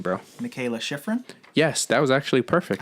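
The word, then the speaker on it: Mikaela Shiffrin: Michaela Schifrin? Yes, that was actually perfect. I think that's how you pronounce it.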